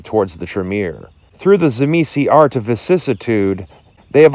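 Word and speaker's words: Tzimisce: or the Shema say I've heard them pronounced a couple different ways I was originally introduced them as zimisi and so I'm just gonna default to zamisi the Carpathian vampires the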